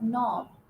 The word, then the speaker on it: knob: K is silent. And then you have knob, you have no, you have knock, you have knife, right?